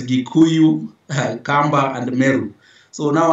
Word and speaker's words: Gikuyu: Now, the local the local dialect pronunciation is Gikuyu, not Kikuyu with a K, is with a G. So it's Gikuyu, Kamba, and Meru.